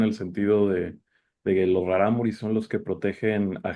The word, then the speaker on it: Raramuri: Y claro, lo sospechaban porque además cuando los contrataban o cuando un tiempo que intentaron esclavizar Raramuris, Raramuri, porque Raramuri es plural, ¿sí? No se dice raramuris, sino raramuri. Sí, ya nos malacostumbrábamos a decir raramuris.